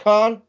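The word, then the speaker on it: Kaun: Do you pronounce it Khan?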